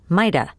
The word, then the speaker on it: might have: Remember that you can also pronounce could have, coulda, and might have, mighta.